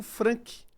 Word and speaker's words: Franck: Nessa noite eu venho falar aqui com meu amigo Frank. Pronunciei correto?